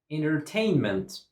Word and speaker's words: entertainment: Entertainment. Entertainment. Entertainment. 4 syllables and stress goes on the second syllable. Entertainment. Entertainment. Stress goes on tain.